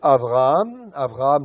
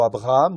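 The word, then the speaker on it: אברהם: Ok, le texte, en fin de compte, c'est un bet, en fait, ici, mais que l'on prononce, qui est souvent adouci. C'est pour ça que ça devient un vet, en fait, dans la plupart des mots.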